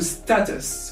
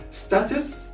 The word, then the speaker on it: status: Moving now to status, we have two pronunciations of this word. Status as British or status as American.